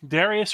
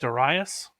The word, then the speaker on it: Darius: So Darius, or you may have heard it pronounced Darius, the Great is somewhat of a second founder of the Persian Empire, of the Achaemenid Empire.